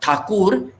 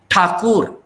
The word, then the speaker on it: Thakur: marathi also will think though is written th it is not thakur it is takur a surname then comes the double